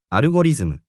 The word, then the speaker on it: アルゴリズム: We pronounce it アルゴリズム。 By the way, Japanese doesn't distinguish between L and R. They both become R.